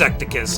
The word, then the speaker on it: Ecticus: And first of all, his pronunciation for his name is Ecticus. It's Ecticus.